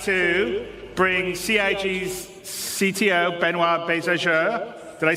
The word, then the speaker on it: Benoit: And without me waffling on, I'd like to bring CIG's CTO, Benoit Bézageur.